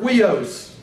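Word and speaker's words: υἱός: It's pronounced like we, like the word sweet, S-U-I-T-E. The Greek word with we in it is the word huios.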